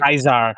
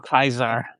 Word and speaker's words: Caesar: he becomes the new Caesar. I thought that was cute. Kaisar. The new Kaisar. Yep. because they uh pronounce it the ger the German way, not the Latin way, which is kind of